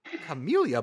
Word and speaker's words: Camellia: Central is the Camellia Bowl. You said it right. Camellia Bowl.